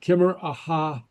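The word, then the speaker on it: Ciamar a tha: Kimmer aha. Ooh. Okay. So notice the hard C and the disappearing T. Aha. So it sounds like an H.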